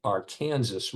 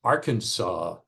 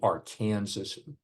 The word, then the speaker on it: Arkansas: you to know that we call it the Arkansas River as would be expected from the spelling.